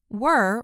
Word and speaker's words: were: Were rhymes with her.